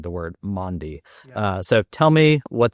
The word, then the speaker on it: Maundy: Maundy, not Monday, Thursday, Maundy Thursday.